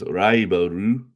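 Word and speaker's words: ライバル: It means raiboru, if you were to say it kind of in Japanese style pronunciation. And that, of course, is Takekeisho and Onosato, who are both now retired.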